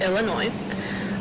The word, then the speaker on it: Illinois: So this is Illinois. You do not pronounce the S at the end. It's Illinois.